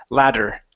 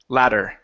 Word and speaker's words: ladder: a Spanish D sound when we pronounce the d in English it feels like a Spanish R like if you were to say the word Maria okay d d d D ladder ladder okay Lether uhhuh so